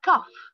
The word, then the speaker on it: cough: A cough. A cough. Here, pronounce gh as f.